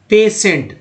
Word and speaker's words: PATIENT: एक वर्ड ले लेते हैं यहाँ पर PATIENT, उच्चारण क्या करते हैं, पेशेंट। मैं कहूँगा कि पेशेंट में श कहाँ दिख रहा है, बताइए स कहाँ दिख रहा है?